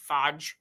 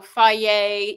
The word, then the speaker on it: Fage: So, I like FA, which is the F A G- Fage, but it's pronounced apparently FA.